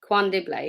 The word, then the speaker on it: KwaNdebele: have to ask Zana to help with the pronunciation here. I don't want to mess it up. Zana, in KwaNdebele, I think. KwaNdebele.